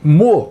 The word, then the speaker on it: Meaux: A nossa parada de hoje é na cidade francesa de Meaux. Essa é a pronúncia correta, o nome está escrito aí.